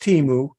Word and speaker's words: Temu: some fly-by-night operation it's it's pronounced timu it's based in Boston